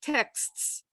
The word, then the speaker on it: texts: You know, look at texts. How many texts are that has 4 consonants? It ends with 4 consonants, KSTS.